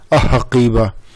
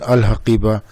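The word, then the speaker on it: الحقيبة: So ha is the moon letter, so that's why we are not pronouncing a-haqiba, we are saying al-haqiba.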